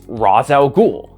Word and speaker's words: Ra's al Ghul: The creator of Razz al Ghul pronounces it as Razz al Ghul.